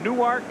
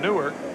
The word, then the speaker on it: Newark: Newark Delaware foreign funny in New Jersey pronounced in Newark and in Delaware they pronounce it Newark will know the reason why New Jersey folks have a different pronunciation from Delaware folks the spelling is the same well that sounds do